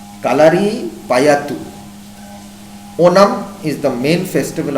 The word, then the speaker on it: Kalari Payattu: Kathakali is a dance drama, and Kaliyara Payattu is a famous martial art from the form of this state. I have to pronounce it properly. Kalari Payattu.